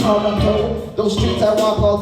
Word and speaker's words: Tkaronto: Originally a Mohawk word pronounced Tkaronto.